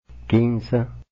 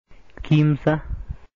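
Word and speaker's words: kimsa: En otras regiones no ocurrió ninguno de estos cambios y la palabra no cambió en nada, por lo cual es pronunciada todavía con m y s, de la misma manera que el quechua originario.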